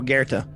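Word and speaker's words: Goethe: by this name goth geth g-o-e-t-h-e oh guerta yeah totally there's an r in there it's just how it's pronounced he's i i know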